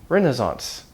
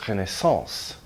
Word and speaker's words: Renaissance: Take a word from modern French, Renaissance. Well, actually, Americans say Renaissance. British people say Renaissance. And it's from the French word the French word is Renaissance. If you want to say the proper French pronunciation and impress your friends at parties, Renaissance.